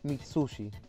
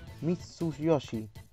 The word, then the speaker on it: Mitsuyoshi: El soundtrack de este juego fue hecho por el genio a ver si lo pronuncio bien. Takenobu Mitsuji. No. Takenobu Mitsuo. Ah. Takenobu Mitsuyoshi.